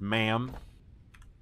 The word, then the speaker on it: MAM: has the zunis this is the man it's pronounced ma'am so you throw things in here it destroys